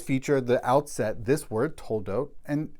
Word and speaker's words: Toledot: We are now in Parashat Toledot, or Toldos, if you prefer an Ashkenazi pronunciation.